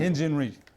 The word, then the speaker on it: Hyun-Jin Ryu: Hyun-Jin Ryu. Hyun-Jin Ryu.